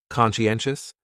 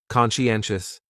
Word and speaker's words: conscientious: So, conscientious has 4 syllables, and the stress is on that third syllable. N. Conscientious, conscientious. That second syllable is what really confuses people, because that sigh almost sounds like you're saying she.